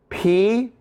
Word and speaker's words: π: So when you pronounce P, the letter P, or P, you'll notice that you pucker your lips together. So that P is, or the P sound, you'll notice that your lips come together.